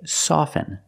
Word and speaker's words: soften: words soften and often with both words I don't pronounce a t i say soften and I say often but sometimes you'll hear people say often and it's not wrong it's okay people say